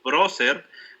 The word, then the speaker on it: prócer: Primero, un músculo que ya habíamos mencionado desde el inicio, el músculo procerus o prócer, ¿vale? Con acento en la O, si lo escriben